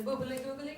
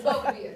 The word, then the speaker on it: Belvedere: My name can be hard to pronounce. I've heard everything from Miss Boobily Googly to Miss to Miss. It's Belvedere, just to be clear.